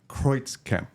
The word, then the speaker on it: Kreutzkamp: Today we got and Kreutzkamp. Yes. Correct. All right. German pronunciation is From Germany, yes.